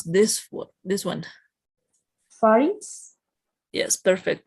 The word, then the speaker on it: pharynx: Pharynx? Yes, perfect. Making the X sound. It's very important. I used to make the mistake that pronunciated without the X.